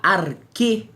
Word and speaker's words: arché: Buscavam a arquê da natureza. Arquê, que se escreve arché com CH, acento agudo, não é?